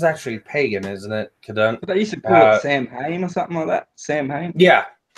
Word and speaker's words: Samhain: it today Samhain yeah sowon sowon s1 it's it's spelled Sam Sam hey but it's it's Owen wait yeah it's like it's like you're you're you're you're someone a button onto a shirt yeah but I I